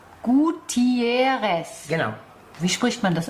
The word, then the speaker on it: Gutiérrez: g g I e r r e s gutieres genau wie spricht man das aus auf Spanisch ja und hätten